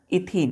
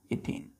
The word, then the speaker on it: ethene: लेकिन प्रोनाउंसिएशन क्या करते हैं इसका? इथीन। क्या पढ़ते हैं इसको? इथीन। ETHENE।